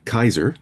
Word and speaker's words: Caesar: Like Caesar Caesar himself would have called himself Kaiser and Cicero would have been Kickaro.